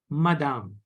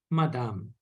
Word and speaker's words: madame: for the female ladies madame madame madame Madam madam not Madame Madame no there is no hard sound okay madame okay